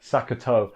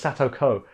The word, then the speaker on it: Satoko: I said it wrong. Sakoto. Or is it Sato? No, it's Satoko. That's the thing I've been doing a lot, is I've been getting her name the wrong way round.